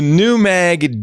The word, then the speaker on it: Newag: It's a Polish word, so the W is a V, pronounced as a V. Newag.